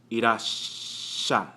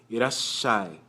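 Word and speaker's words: いらっしゃい: Irashai, shai. Irashai, irashai. Without the tsu, it'd just be irashai. But with the little tsu, it prolongs the S sound in the shi character to irashai.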